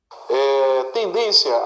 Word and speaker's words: tendência: Tendência, a tonicidade do termo sublinhado recai na penúltima sílaba. E o acento se justifica por terminar em hiato. Falso. Olha, é a penúltima sílaba.